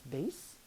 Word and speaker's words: bass: There are two spellings of the word that we pronounce bass.